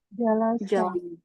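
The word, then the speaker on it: جلس: fathah fathah juga ya Sin mengikuti lam dong kan di akhir sama tuh ah lam harakatnya apa fathah fathah maka menjadi apa kata kerjanya Bacanya apa jalasa jalasa ya jalasa ya contoh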